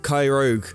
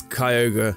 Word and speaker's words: Kyogre: R after the Y I always called it krogue uh even though it's Kyogre is it's it's a really weird thing but